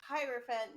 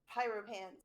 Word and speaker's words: hierophant: the card back over oh it's hierophant not pyro pants oh uh actually can